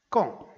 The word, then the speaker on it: quand: Donc, je remplace quand avec lorsque. Je le ferai lorsque j'aurai l'occasion. Quand il fait beau, regardez bien, quand il fait beau, même s'il y a un D, on prononce T.